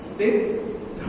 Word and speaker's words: सिद्ध: देखो कैसे बोलते हैं, सिद्ध, आगे जो आने वाला ना द, उसको पहले से ही बोलना शुरू कर दो आप।